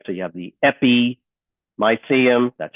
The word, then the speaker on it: epimysium: So you have the epimysium, that's how it's pronounced, epimysium, the muscle belly.